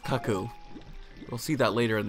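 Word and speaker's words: Cucco: a kid i thought it was called a cuckoo which makes which made sense to me because i thought i was just like a cuckoo clock but it is pronounced kaku we'll see that later in the game something's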